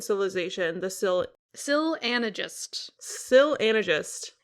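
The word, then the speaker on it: Syl Anagist: the sil Sil anagist Sil anagist is how the audiobook reader pronounces it this is how we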